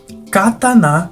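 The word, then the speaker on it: 刀: A pronúncia dessa palavra, que seria a palavra japonesa, realmente é cataná. Enquanto a pronúncia da palavra katana é katana, sendo essa novamente, uma palavra de origem portuguesa que é semelhante a uma tradução da palavra.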